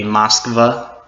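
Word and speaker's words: Москва: being Moscow, which it turns out to be Moskva. They're all pretty much how we would pronounce them in English, but they're just spelled in their Russian letters.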